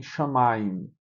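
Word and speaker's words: שמים: E você tem shamaim. Shamaim. O assento tá aqui.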